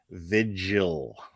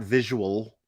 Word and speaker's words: vigil: which is really sad say it with me okay vigil vigil vigil okay it's not visual okay they're two different two different things two different things spelled very differently okay one has an extra syllable okay what one has two syllables the other one has three syllables okay the correct one is the two-syllable one okay come on betty